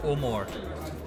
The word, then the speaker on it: Omore: How do you pronounce the name of this ice cream? It's Omore. Omore. Yeah, it's a coin name. We've coined it. So what it means is, oh, more ice cream.